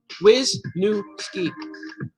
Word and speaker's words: Wisniewski: Now I know how to say it because your son sent me the phonetic. Wisniewski. I never knew, man, because you got a lot of I's in there.